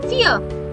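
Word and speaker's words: vier: And remember, V is always pronounced as F when we write it with a word. For example, give me an example. You know it? Fear. Fear means four.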